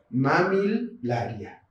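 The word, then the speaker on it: Mammillaria: de Valen de valencia cuando están presente dos letras l siempre siempre la tengo que pronunciar por separado este género de cactus de mamilaria banner luz y como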